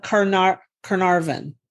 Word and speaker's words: Carnarvon: The Countess of Carnarvon.